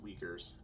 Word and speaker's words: Uyghurs: a more modern example the uyghurs in china i think it's pronounced weakers uh you know the